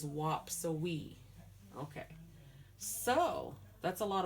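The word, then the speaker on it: waapsuwii: so wap so we that's how you spell it in lenape w-a-a-p-s-u-w-i-i and the way we say it is whop so we okay so that's a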